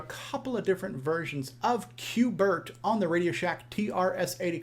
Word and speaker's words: Q*bert: I'm saying Cuber, and Cuber is the wrong name. How about we pronounce it properly? Bert. In the arcade, it was called Bert. That's how it was kind of listed out, Cubert.